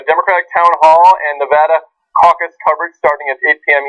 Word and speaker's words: Nevada: Tuesday we have a Democratic town hall and Nevada caucus coverage starting at 800m Eastern everybody say Nevada not Nevada Nevada Nevada Nevada and get ready for Colorado